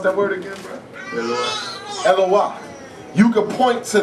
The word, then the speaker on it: Eloah: How you say you pronounce that word again, bro? Eloah.